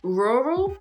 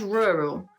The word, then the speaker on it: rural: you have to practice so rural depending on different areas of the UK at least rural and rural French speakers sort of open their mouth too much when they said this this word it sounds really really odd this is a really